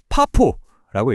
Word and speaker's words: FAFO: FAFO, 파포라고 읽으면 되는데요.